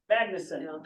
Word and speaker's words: Magnason: name because he's Icelandic Magnuson Magnuson okay emphasize the first syllable in Icelandic this dad's first name